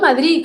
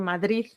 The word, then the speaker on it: Madrid: Por ejemplo, Madrid. Madrid. Madrid. No es Madrid, es Madrid. Sí. Tú tú, ¿cómo pronuncias? Madrid. Ah, con Z. Sí, las tres. Yo también. Madrid. Madrid. Bueno, según yo es una D, pero claro, una puede ser una D bloqueada o a veces también hay gente que pronuncia una Z.